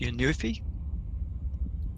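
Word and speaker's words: Synuefe: how do you say that name s-y-n-u-e-f-e it's your new fee what's happening I've heard the uh the um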